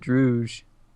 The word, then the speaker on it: dreuj: And Versus ranked third team with a rating of 1902, dreuj or dreuj I, versus brisk. I pronounce it dreuj.